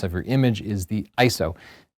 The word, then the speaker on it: ISO: your image is the iso it's not pronounced ISO it actually it is not spelled out because it's not an acronym you don't believe me